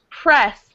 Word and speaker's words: press: Press. Oops. Press. What? Press. No, press. Eh, eh. Press. Press. Don't roll your R.